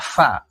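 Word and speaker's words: فاء: ini di akhir namanya Fa bunyinya kayak huruf f atau p dalam bahasa Indonesia tapi dia cenderung kayak FC Fa fi fu jangan pa pi PU ya 21 ada huruf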